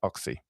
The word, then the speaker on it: Ochse: One Audition by Alicia Oxy. Oxy is spelled Ochse, Alicia.